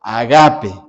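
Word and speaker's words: ἀγάπη: Esa esa palabra se pronuncia en griego agape. ¿Qué significa agape?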